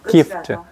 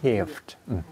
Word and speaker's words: gift: 근데 기프트는 왜 트 소리를 내요? gift. 이것도 거의 안 나요. 내가 이제 발음 좀 알아들으라고 하는 거지. I bought a gift. I bought a gift. 네. 그렇죠. gift. 이게 트가 발음이 거의 안 된다고요. gift니까 참 발음도 어려워요. for는 이가 알아야 닿아야 되잖아요. for. 다음에 gift. I bought a gift. 트가 거의 터지는 소리만 난다고요.